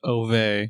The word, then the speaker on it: Ove: I also didn't know it was pronounced Ove. Yeah, it's like Swedish or something.